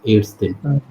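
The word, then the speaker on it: Ärztin: और female doctor के लिए हमारे पास एड्स दिन. एड्स दिन. ओके. ए के ऊपर टू डॉट्स भी आ जाती है और ए के साथ टू डॉट्स को प्रोनाउंस सिंपल ए करते हैं.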